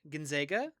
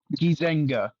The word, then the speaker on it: Gizenga: I think that's the first time I got a name wrong. Alright, up next, we Okay. have Muteba Ginzega? Gizenga.